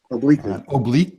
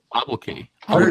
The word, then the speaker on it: obloquy: Obliquely. No, it's not obliquely. It's there's no L in it. Like there's no second L. Obloquy.